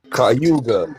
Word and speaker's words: Cayuga: Cayuga County. I'm saying it right. Cayuga. Yeah. Cayuga.